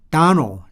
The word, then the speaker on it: Donald: Donald. 자, 여기에 보면 단어 끝에 D가 나왔죠. 그러니까 생략을 해버리는 거야.